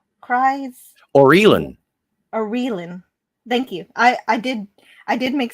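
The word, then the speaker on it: Aurelan: Orlin's cries. Orelin. Thank you. I did make Scotty in charge of figuring out how to pronounce her name. Orelin.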